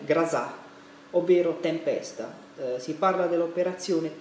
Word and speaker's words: Groza: parlando appunto dell'operazione rosa in italiano si scrive operazione grossa quella z ma il russo si legge grassa ovvero tempesta si parla